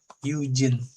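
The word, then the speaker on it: 友人: 1 2 3 4 5 6 Eugen jadinya bacanya.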